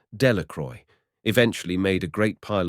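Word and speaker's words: Dellacroix: Jones and Dicky dequire the villagers pronounced this name delacroy eventually made a great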